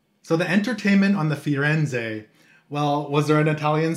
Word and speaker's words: Firenze: Firenze, honey, Firenze.